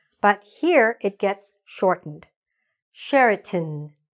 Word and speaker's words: Sheraton: Sheraton, tin, not ton, tin.